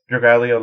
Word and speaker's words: Dragalia: So with this one game that they have, Dragalia. Oh, I said it right. Dragalia Lost.